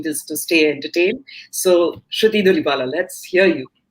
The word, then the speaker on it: Sruthi Dulipala: So I'd like to invite Sruthi Dulipala. I hope I have pronounced your name properly.